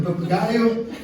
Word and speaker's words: papagaio: É só tu tirar a vogal da primeira sílaba. Ó, a palavra papagaio, ensiná-los como usar, né, falar em português de Portugal. Palavra papagaio, tá? Tirem o primeiro A vogal.